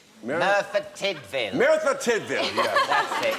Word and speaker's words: Merthyr Tydfil: In, how do you say, Meredith Tidwell? Merthyr Tydfil.